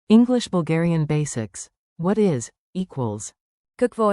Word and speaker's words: Какво: Say it slowly. Какво? Kahk vo, rising, then Е.